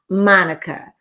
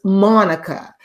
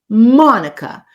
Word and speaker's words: Monica: And she said, "Your name is not Monica. Your name is Monica, because it's spelled with an O. Monday. Monica."